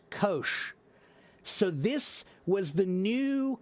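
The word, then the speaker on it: Kocs: And that is pronounced kosh. That city is pronounced kosh.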